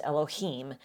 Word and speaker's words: Elohim: It's pronounced Elohim.